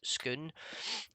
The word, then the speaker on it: Scone: it's funn enough that the town the town that that has the same spelling as scone is pronounced skoon.